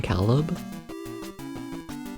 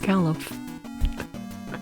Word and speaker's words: Caliph: I keep feeling like I'm just like mispronouncing Caleb. You know? But no, it's Caliph.